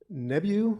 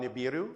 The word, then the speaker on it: Nibiru: Um, also I'm probably not going to pronounce it right, but um, Nebu, Nebulu, it's a you're talking about Nibiru.